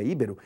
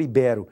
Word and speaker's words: ibero: Se ela não recebe acento, a pronúncia correta não seria híbero. Mas se fosse híbero, ela seria proparoxítona, pois deveria ser acentuada no i. E se for ibero?